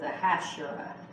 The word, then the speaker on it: Ahasuerus: to him as Xerxes, but the way you pronounce it is Ahasuerus.